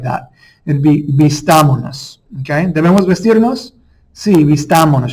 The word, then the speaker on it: vistámonos: So instead of vistamos nos, you wouldn't say it like that. It'd be vistámonos.